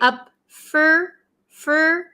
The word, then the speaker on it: up for grabs: for grabs okay and pay attention to um how we pronounce it so we usually say up F fur usually in American English this for turns to fur up f up for